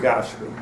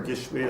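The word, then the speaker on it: גשמי: And because we're Gashmi, so then the logic would follow to say that the more Gashmi we are, or Gishmi as it's probably correctly pronounced, the more Gishmi we are, the bigger we are.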